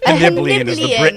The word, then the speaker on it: Hannibalian: Hannibalian is the Britannica pronunciation.